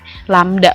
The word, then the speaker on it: lambda: Ini lambda bacanya.